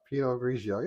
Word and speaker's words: Pinot Grigio: Pinot Grigio.